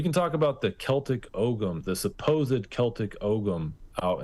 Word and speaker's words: Ogham: They'll say it's Ogham. You don't say the G. I'm from Kansas and we're pretty literal with our pronunciation. So the Ogham is this type of